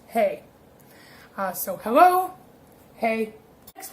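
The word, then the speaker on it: hej: And hello in Swedish is spelled H-E-J, which looks like it could be really confusing, but it's actually just hey.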